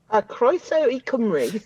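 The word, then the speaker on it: Croeso i Gymru: Can you pronounce welcome to Wales in Welsh? Croeso I Cymru.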